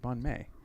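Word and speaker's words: bánh mì: it Vietnamese yes yes I had a Vietnamese friend he pronounced it bon may so I've always pronounced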